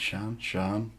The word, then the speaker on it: Shann: It's like, is it Shann? Yeah, but like it's Shannon, but I just prefer Okay, Shann.